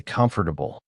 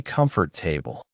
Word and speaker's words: comfortable: I remember spending three days just learning how to say comfortable because I used to say comfort table.